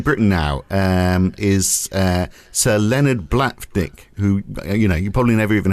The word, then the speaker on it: Blavatnik: So, like when we look at the richest man in Britain now is Sir Leonard Blavatnik, who, you probably never even heard of, but he's worth...